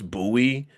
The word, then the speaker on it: Bowie: buoy is it I I called it Bowie State but somebody said it's buoy so I think that's tell